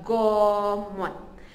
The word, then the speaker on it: Gomot: Dan in dusun, dalam bahasa dusun adalah Gomot.